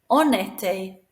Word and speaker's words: en été: So we slide it together so that vowel pronounces the N. En été, en automne.